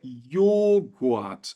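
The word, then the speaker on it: Joghurt: h de qualquer maneira a pronúncia é a mesma é yog nada de jogat ou jogat é yog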